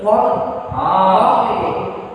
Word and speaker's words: parler: So how will you pronounce this? Sir, parler.